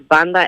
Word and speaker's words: Banda: I just wanted to say the band is called Banda MS. Okay. Banda. Pronounced Banda. So you got it right the second Is time.